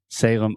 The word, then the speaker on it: Salem: you with the pronunciation so this is Salem s-a-l-e-m and remember whenever you have a word that ends with the letter M in English we're going to close our mouth completely because your natural tendency